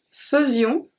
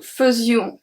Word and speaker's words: faisions: Nous faisions, the S at the end is not pronounced, and vous faisiez.